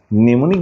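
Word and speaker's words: mnemonic: প্রসেসে পড়তেছি বানান এটাকে বলা হয় নিউমোনিক প্রসেস নেমনিক বানানে কিন্তু এম নেমনিক প্রথমে কিন্তু এম আছে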